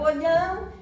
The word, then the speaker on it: Olhão: Até percebi, olhão. Olá, oi, olhão. E lá lhe expliquei que em português aquilo se pronunciava olhão e que deviam ir em tal direção.